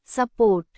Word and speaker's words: support: ఉదాహరణ support. ఈ పదంలో 2 syllables ఉన్నాయి, su మరియు port. This word has 2 syllables, su and port. Port మీద ఒత్తు ఉంటుంది. Port has the stress.